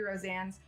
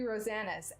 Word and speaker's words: Rosanes: actually it was funny I've called him Kirby Roseanne's for the longest time but I saw an interview he did where he pronounced his name Kirby rosannes and boy was I